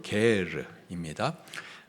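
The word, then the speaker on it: גר: 거류민이 너희 땅에 거류하여 함께 있거든 너희는 그를 학대하지 말고 거류인 히브리식 발음으로 게르입니다.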